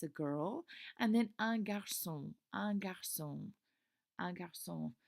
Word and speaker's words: garçon: And then un garçon. Un garçon. Un garçon. And this is a cécédille here that will make that C a soft C.